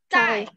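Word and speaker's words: 在: Bacanya gimana? Cai. Ya. Cai. Nadanya 4 juga.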